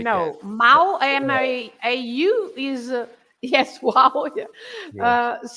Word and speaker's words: mau: Then you also have the A and the U together, which is au, like in the famous bacalhau, right? Of course, the bacalhau. Most. Or the word mau for bad, mau, bacalhau. So this au is the, au, the sound au all the time.